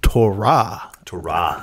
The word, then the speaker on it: Torah: scripture the law and i say torah but i meant to tell you it's torah yeah an actual us america or not americans that's english speakers put the accent on the the first syllable rather than the last syllable yeah a little quick